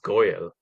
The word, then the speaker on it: Goel: Just for fun, you could say Goel. I'm trying to blend your last name into it. Ah, Goel. so actually the surname is pronounced Goyle.